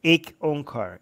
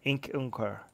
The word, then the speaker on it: Ik Onkar: Opening sentence is just Ik Onkar. Ik Onkar. Two words.